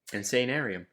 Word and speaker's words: Insanarium: Insanarium. I don't know how to say it. Insanarium. You got it right.